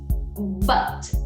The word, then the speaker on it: but: 10ª palavrinha, nós vamos ter o but. But. Exato. É essa a pronúncia. But. Não é but, é but. E não é pra falar but, tá? Esse ti não existe no inglês. A gente tem esse T que é bem suave.